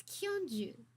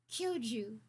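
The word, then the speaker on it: 教授: pretty good conscious actually I wrote down how to pronounce Professor the way they say it in Japanese it's kyunju right kyoju kyoju Professor wake up I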